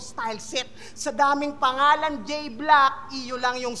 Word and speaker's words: J-Blaque: Basta pagtapos ko kay J Black, EU silent. Okay. Medyo na slow ako doon. Sa J Black pala, no, yung EU yung sa spelling ng black niya is silent.